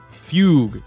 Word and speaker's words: Fugue: new Kafka excuse me that did crits Fugue Fugue is how you pronounce it okay fug fug interesting okay so